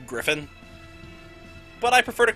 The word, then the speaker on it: Gryphon: And for the record, yes, I know it's pronounced Griffin.